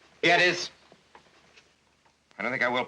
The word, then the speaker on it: Gettys: is named Big Boss James gtis or Gettys or Gettys they pronounce it Gettys I don't think I